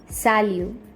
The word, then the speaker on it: salut: The last T is silent, so it's salut.